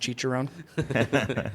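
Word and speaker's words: Cicerone: You're It's pronounced chicheró.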